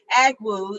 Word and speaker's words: Agwu: We are so honored today to have our speaker, Agwu. I make sure I'm saying it right there. Agwai, that's all right, Agwai.